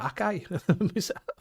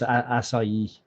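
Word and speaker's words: açaí: I thought it was Akai. It can be pronounced Akai as well, but the actual pronunciation is Acai.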